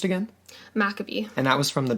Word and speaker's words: Maccabee: How was this pronounced again? Maccabee.